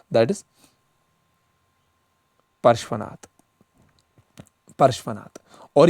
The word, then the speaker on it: पार्श्वनाथ: King अश्वसेना जो था, ही वॉज the father of Parasnath, ठीक है, या परशुनाथ, फादर ऑफ, देखो प्रोनाउंसिएशन मेरी थोड़ी है क्योंकि ये बहुत टफ हिंदी वर्ड्स है, दैट इज पार्श्वनाथ, पार्श्वनाथ।